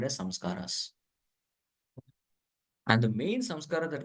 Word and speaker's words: samskara: So these samskaras have to be purified. Samskaras. It's actually not sanskar. Hindi mein sanskar nahi, it is samskar.